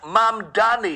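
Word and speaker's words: Mamdani: This is New York City Mayor Zoran Mamani, pronounced Mam Dani.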